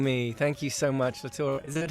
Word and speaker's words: Lautaro: It's Lautaro, but Lautaro. yeah. But you know, in Europe, the people say Lutaro.